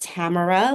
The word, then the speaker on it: Tamara: My name is pronounced Tamara, like camera, but with the T, and I'm also the assistant director for travel health services.